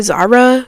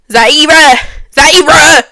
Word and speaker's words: Zaira: Like, have you ever heard of that girl named Zyra? Zara? Because, you know, they be saying my name wrong. Because I'm just... Zaira.